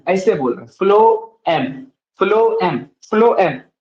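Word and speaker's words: phloem: चीज देख रहे हैं फलो एम हम बोल तो रहे हैं इसका स्पेलिंग एक्चुअली होता है पी एच एल ओई एम देखिए हम लोग बोल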